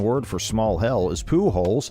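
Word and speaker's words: Pujols: here the catalon word for small hell is Pooh holes pronounced Pooh holes and according to the official website for the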